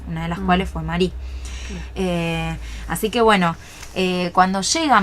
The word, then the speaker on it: Marie: empieza a hacerse llamar Marie. Claro, porque no nombra el Marie, sería la última letra en la E, en francés no se dice.